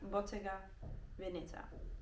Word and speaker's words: Bottega Veneta: move to boteca Veneta my Italian actually told me that's how you pronounce it so it's Bottega Venita to make it real